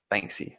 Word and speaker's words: Banksy: he does like he did the shredded painting Banksy that's how you pronounce it yeah I mean he's just some